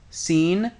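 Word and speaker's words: سين: and these letters are seen, shen, sod, and the first letter is the letter seen. Scene is the name of the Arabic letter corresponding to the English s as in the word scene itself.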